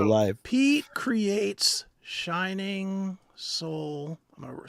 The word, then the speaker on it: Sol: Pete creates shining soul. I'm going to spell it soul candles. SOL.